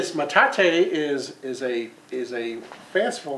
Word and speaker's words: metate: Metate. Metate. So Metate. Who named it Metate, I wonder? That's a Spanish word.